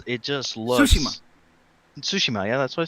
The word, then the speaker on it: Tsushima: But I mean, going back to Ghost of Tsushima, it just looks Tsushima.